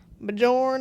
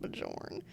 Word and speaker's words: Bjorn: do you say that Bjorn and Anna it's not Bourn imagine if it was